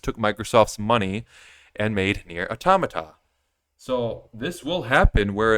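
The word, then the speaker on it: NieR: Automata: B Bayonetta they made near automata near automata that's how properly pronounced that and they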